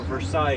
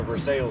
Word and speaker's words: Versailles: So all the French words are pronounced like they're spelled, not like they're pronounced. We do not have a Versailles, Kentucky. We have a Versailles, Kentucky.